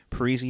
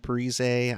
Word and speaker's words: Parise: right before parise scores that's that's how he pronounces it right now this week right parisi not parise i mean i get